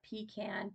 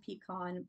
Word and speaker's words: pecan: for a recipe for pecan pecan pie however you want to pronunciate it I grew up calling it pecan um but it's the